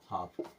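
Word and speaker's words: half: काफ एच ए एल एफ एफ के पहले एल आ गया यानी कि एल खत्म और इसे क्या पढ़ेंगे हाफ क्या पढ़ेंगे हाफ ऐसे अभी देख लेते हैं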